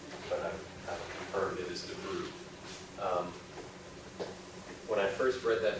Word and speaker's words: Debreu: I've obsessed over this pronunciation as well, but I've confirmed it is Debreu. When I first read that name, I thought there was an A in there, and I thought it was pronounced Debreu, but it's Debreu.